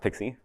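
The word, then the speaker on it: PKCE: replacing core and yes it's pronounced pixie because I guess it's cute what pixie does is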